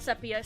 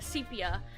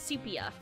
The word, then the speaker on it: sepia: Not sepia, sepia. I've learned that I've been pronouncing that wrong. So I got to learn to not say sepia cuz it's sepia.